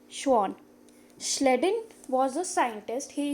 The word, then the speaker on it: Schwann: scientists sleddin and Shawn pay attention to the pronunciation it is sleddin and chuan sleddin was a scientist